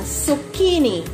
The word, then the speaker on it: zucchini: Eto ang tamang pronunciation niya, zucchini. Eto pala ay Italian word.